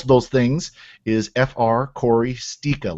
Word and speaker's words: Sticha: You can usually find me on most of those things is Corey Stika. Last name spelled Sticha. And it's pronounced Stika.